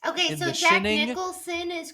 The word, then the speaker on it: Jack Nicholson: Let's go watch Jack Nicholas. Okay, so Jack Nicholson is correct. Jack Nicholson is the correct pronunciation of that man's name.